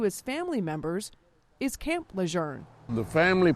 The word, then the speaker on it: Lejeune: on Facebook questioning the way we say Camp Leger. Now, most of you have always said Lun.